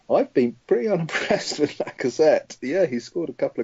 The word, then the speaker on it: Lacazette: Are you going to commit to a pronunciation yourself? It is Lacazette.